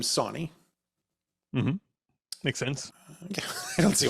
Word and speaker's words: Sawney: Definitely Sawney. Now it is spelled with like saw, like knee.